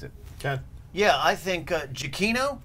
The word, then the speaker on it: Giacchino: Yeah, I think Giacchino. Giacchino. Cappuccino. Yeah, Cappuccino. Giacchino. We've all hit the hard C today.